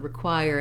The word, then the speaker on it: require: similar spelling to requiem the choir syllable is stressed here and so i have i'm back to my writ unstressed first syllable so just like with